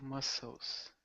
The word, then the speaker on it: muscles: So in this respect, the S and the C are kind of together. So muscles. So pretty much pronounced like this is more the pronunciation.